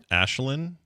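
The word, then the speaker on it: Aisling: could get was B but Ashlynn a a i s l i n g that's a crazy way to pronounce that that's amazing oh Claire killer was uh yelling in the chat room it's pronounced like Brian said it oh you could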